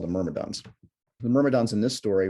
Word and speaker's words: Myrmidon: villain or miramadan if i can if i'm pronouncing that correctly yeah myrmidon yeah it's um the word mermadon i don't